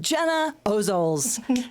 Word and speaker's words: Gena Ozols: Welcome, Gena Ozols.